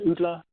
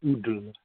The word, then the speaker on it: Udla: And that's Udla in the Russian. The Y is an U sound, you see a D, and the pointy bits are the L, so Udla.